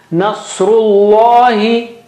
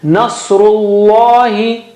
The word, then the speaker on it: Nasrullahi: Nasrullahi. Saw is very thick and high. Very thick and high. Nasrullahi.